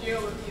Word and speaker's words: Geoloqi: that people could use and we called it GE after asking Twitter what to call it um